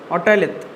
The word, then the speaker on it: otolith: I am just writing the name and I am telling you my pronunciation. Otolith. Otolith. It is Lith.